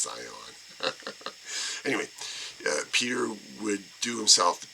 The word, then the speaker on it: Zeihan: I think that Peter Zeihan, which is interesting, he spells his name differently, but it's pronounced Zion.